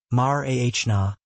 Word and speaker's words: Marana: The pronunciation is absolutely vital, mar-ahna, placing the primary emphasis squarely on the second syllable.